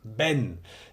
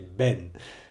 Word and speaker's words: ven: the Bini it is an irregular imperative exactly Ben is spelled ven but because Spanish people pronounce the veers of B they say Ben so I would walk around the streets of